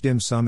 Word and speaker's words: 點心: shortened to diane sin of which dim sum is the cantonese pronunciation came to represent dishes